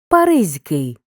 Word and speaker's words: Паризький: б вийти слово Паризький однак знаємо що приголосні г ж зливаються із с і змінюються на з тому і вимовляємо і пишемо Паризький виняток коли г не